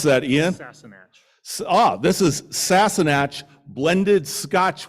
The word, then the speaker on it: Sassenach: This is, how do you pronounce that, Ian? Sassenach.